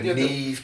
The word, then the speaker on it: Neve: With Nevi Campbell. I know that's not how you pronounce her first name. Maybe. What's she called? Yeah. Neve Campbell.